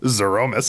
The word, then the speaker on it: Zeromus: How do you pronounce the final boss of Final Fantasy IV? The final form of it, Zeromus.